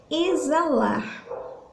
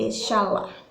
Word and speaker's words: exalar: o som de z esse x ele não sai na hora da nossa pronúncia a gente troca esse som pelo são do z exalar né não se não seria echala oxalá né e sim exalar quantas letrinhas nós temos